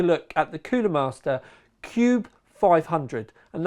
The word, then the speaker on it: Qube: at The Cooler Master Cube 500 and that's Cube spelled with a Q although when you think